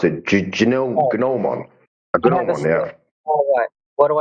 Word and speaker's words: gnomon: How do you pronounce it? Gnomon.